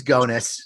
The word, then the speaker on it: Gonis: it's Gonis. But It's he right. likes to be enigmatic. It rhymes with Go. What does it rhyme with? Bonus. Bonus.